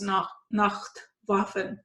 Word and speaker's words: Nacht Waffen: how that was like for you, and discuss Nacht Waffen. You said it right. I'm trying to pronounce it correctly.